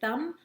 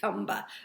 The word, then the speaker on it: thumb: we know let's say thumb thumb do we say thumb no we don't say tomba we say thumb show